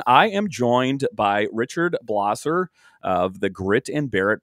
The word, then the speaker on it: Blosser: saying your last name correctly isn't that it's blosser is that correct that is correct you said